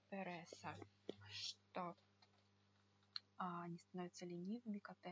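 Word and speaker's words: pereza: Переса, да? Переса. Так, переса. Я уже сказала, что вот эта вот буква, английская Z, да, она не будет читаться как Z, она читается как S.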